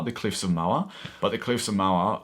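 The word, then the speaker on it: Moher: of it is the Cliffs of MOA I think that's how you pronounce it m-o-h-e-r the Cliffs of MOA but the Cliffs of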